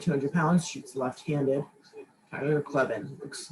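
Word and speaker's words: Kleven: Clevin, that's how you say it. Clevin.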